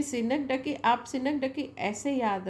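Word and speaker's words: synecdoche: अब ये सिनक डोज ऐसा हम पढ़ेंगे तो ऐसा पढ़ेंगे सिनक डोज, है ना, लेकिन इसका साउंड मैंने प्रोनाउंसिएशन लिखा है यहाँ पर, दैट इज सिनक डकी, राइट।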